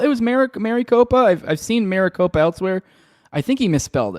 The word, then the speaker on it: Maricopa: It's pronounced Maricopa.